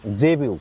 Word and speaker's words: Zebu: খুব ভালো ভোকাবুলারিটা হচ্ছে জেবিউ জেবিউ আমি উচ্চারণটা বলে দিচ্ছি জেড ই বি ইউ জেবি ইউ মানে কি 10 সেকেন্ড